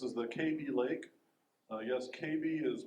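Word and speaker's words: Kaby Lake: pretty picture this is the KB Lake yes KB is pronounced to write with baby just just remember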